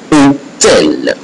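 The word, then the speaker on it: hôtel: So H not pronounced. So this letter H is not pronounced at all. So you have here hotel, hospital.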